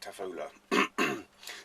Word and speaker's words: Tafolla: is this is no you had to pronounce that tefillah tafolla it's one of these neo